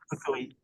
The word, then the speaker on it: Fukui: How did you, is that the right pronunciation? Yeah, Index? Fukui.